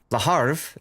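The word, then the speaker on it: Le Havre: Why do Americans keep saying the R before the the V? Because the R is before the V. Laarv. L E H A R V E. It's not my fault that the French decided to pronounce it the opposite way.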